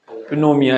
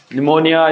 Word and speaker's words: pneumonia: सही है ना स्पेलिंग के हिसाब से तो अपने को क्या लग रहा है फिनोमिया ऐसे बोलने में ऐसा लगना चाहिए लेकिन पी क्या होता है इसमें साइलेंट होता है ठीक है तो ध्यान रखना निमोनिया या फिर निमोनिया भी